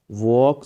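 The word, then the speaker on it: walk: गो slowly, वॉक slowly, वॉक slowly. इसमें L silent है, वॉक में एल साइलेंट है, वॉक नहीं पढ़ेंगे, वॉक स्लोली, गो स्लोली, या फिर बोलेंगे वॉक स्लोली।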